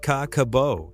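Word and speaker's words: Kakeibo: Japan 1,94 a journalist named Hani Motoko published the first Kakibbo pronounced Kaakabo in a women's magazine called Fujin Notomo or Women's Friend.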